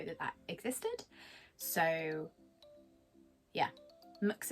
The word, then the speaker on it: Mx: that existed so yeah mux is a thing um some people pronounce it mix i i prefer mux is because it's mx and it just sounds i don't know if i'm